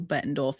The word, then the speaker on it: Bettendorf: Well, that's that's perfect. It's it's very phonetic and you'd be surprised how many people stumble over it.